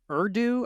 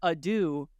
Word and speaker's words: ado: a couple episodes ago I was saying further ero I didn't really know what yeah Oro it's it's further Ado and AD do is not spelled like the French version I bid you Ado